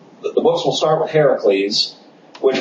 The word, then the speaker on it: Heracles: books will start with Heracles which we're actually using the Greek pronunciation of his name he's not called Hercules he's called Heracles one of the jokes